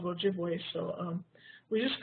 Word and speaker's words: Ojibwe: We don't use that term Chippewa, that's an incorrect pronunciation of Ojibwe, so we just call it Bear Island Flint.